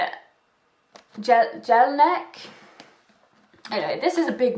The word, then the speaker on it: Jelinek: The evidence-based 7-step recovery program, and this is by Professor George Jelinek. That is definitely not how you say it. Jelinek.